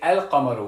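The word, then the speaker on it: القمر: don't say we say El Camaro we do pronounce the lamb that's the difference between Moon letters and Sun letters and for my students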